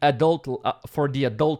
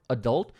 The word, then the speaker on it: adult: And here, college is kind of like a preparation for the adult world. By the way, the word adult, you can say adult or adult. Both, adult or adult. Both pronunciations are correct.